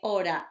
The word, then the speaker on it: hora: ¿Qué hora es? Now remember, hora has got an H, which is a silent letter. So we say, ¿qué hora es?